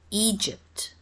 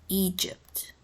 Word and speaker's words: Egypt: and pronunciations are awkward Egypt Egypt Ethiopia Ecuador note the Y in Egypt is pronounced like an i and will deal with